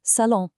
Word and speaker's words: salon: The living room, salon, is masculine, so it pulls in ton. Listen to the nasal ending on salon. It rhymes perfectly with ton.